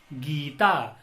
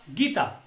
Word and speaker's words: गीता: तो इसका उच्चारण हम कैसे करेंगे? इसका उच्चारण हम करेंगे गीता। अगर हमने कहा गीता तो यह इसका उच्चारण क्या हो जाएगा? गलत हो जाएगा।